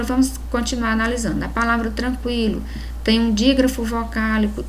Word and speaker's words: tranquilo: Porque o QU aqui, o U ele é pronunciado, então o QU não constitui dígrafo.